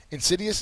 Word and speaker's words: insidious: few years ago called Insidious, but it doesn't always have to be something that's a horror or something scary. Insidious is an adjective. The second syllable has the accent mark, and it is intended